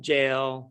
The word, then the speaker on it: Jael: he was here yeah i would save jail jail would either of those would be appropriate pronunciations um and uh my